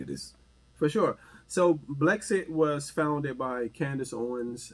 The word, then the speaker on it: Blexit: But I was looking at excuse me if I say it wrong. Is that the BL exit movement? Oh, Blexit.